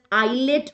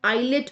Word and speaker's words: islet: Can you see endocrine part of the pancreas is known as islet of Langerhans. The S is silent, right? It is known as islet of Langerhans.